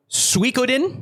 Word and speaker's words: Suikoden: It is called Suikoden.